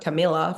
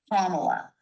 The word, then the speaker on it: Kamala: It's Kamala. Kamala. Stress. Kamala. Well, just picture a big old comma and you're Uh, two-thirds of the way there. Kamala.